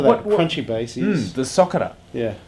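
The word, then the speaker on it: socarrat: Yeah, well, see Spanish name for that crunchy base is the socera. Yeah. Now I don't know how you exactly pronounce it, but socera sounds about right.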